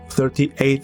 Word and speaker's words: 38: JR Tower 38 is an observation deck on the 38th floor attached to the Sapporo station. It is usually pronounced as just 38.